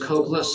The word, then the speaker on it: Cokeless: Uh, my name is kind of a rough one, but it's pronounced Cokeless like no Coke.